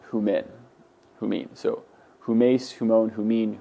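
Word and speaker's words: ὑμῖν: So you would pronounce the second person plural as humin, not humin.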